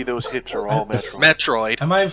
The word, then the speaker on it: Metroid: You said Metro? Clearly, those hips are all Metro. Metroid.